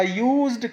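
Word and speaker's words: used: अ यूज्ड कार, यहाँ भी यूज्ड में वाई का साउंड निकल रहा है, इसलिए हमने इनके आगे अ लगाया।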